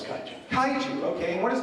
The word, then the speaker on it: kaiju: As far as the giant monsters are, the giant cashews. Yeah, giant cashews. Am I saying it wrong? No, it's kaiju.